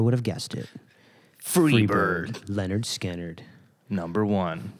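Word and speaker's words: Lynyrd Skynyrd: It's pronounced It was a different time. Leonard Skinner.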